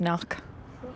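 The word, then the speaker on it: Cnoic: But you haven't pronounced Kinnick right. What is it? Just knock. Oh.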